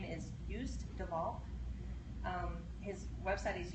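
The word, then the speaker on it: Joost: and actually that's probably it's not used it's y because that's oh I just got that yeah thought you pronounced his name but it's j o o s t so it looks like used yep anyway so but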